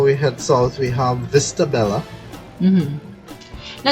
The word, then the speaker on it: Vista Bella: But if I have to pronounce it like we pronounce it in Argentina, then it will be Vista Bella, right? Because the double L in Argentina we say the sound of a sh, right?